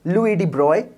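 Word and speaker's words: Broglie: पहले बार किसने बताया उसका स्पेलिंग जो है आप देख सकते हो उनका फ्रेंच नाम होता है तो आप देख सकते हो इसको हम लोग प्रोनाउंस कुछ अलग तरीके से करते हैं इट्स लॉयड ठीक है सो प्रपोज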